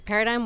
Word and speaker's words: paradigm: you are yes it's paradigm work hub spelled with it silent g do people say paradigm